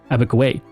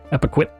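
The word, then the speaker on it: Epekwitk: liked to call it, Abikway, a European mispronunciation of the Micmac word Epiquit, which means land cradled on the waters.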